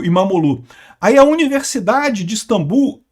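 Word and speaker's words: İmamoğlu: A, aliás, o regime do Erdogan prendeu até o prefeito de Istambul, o Imomoglu. Falei sobre isso, aliás, não se pronuncia o G, né? Então, e é Imamolu, eh eh que é o principal opositor do país.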